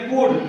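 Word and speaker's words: could: के बाद डी है तो इसका मतलब एल साइलेंट होगा। 13 नंबर सी ओ यू एल डी कूड, कूड में क्या है, एल के बाद डी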